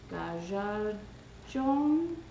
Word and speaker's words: Gajajeon: separate thing and it's called gaza john something like that g-a j-a-j-e-o-n um apparently i got it right the other day according to fallen age